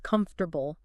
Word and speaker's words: comfortable: So, comfortable kind of collapses down into something more like comfortable. Just three syllables. That second syllable, the four, and the fourth one, the tar, they basically disappear or become super weak, like an uh sound almostwah.